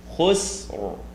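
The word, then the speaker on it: خسر: it affects the ra, so we're going to pronounce khusr, khusr, khusr. The r. There's just a slight r sound, and it is going to be considered heavy. Innal insana lafi khusr.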